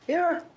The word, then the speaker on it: Aaron: Aaron.